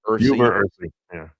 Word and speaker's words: uva ursi: If I'm pronouncing it correctly, is it UVA or UVa? UVa Ursi.